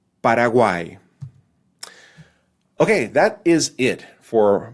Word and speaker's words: Paraguay: means ox or oxen Paraguay the name for that country has a trip thong right at the end Paraguay okay that is it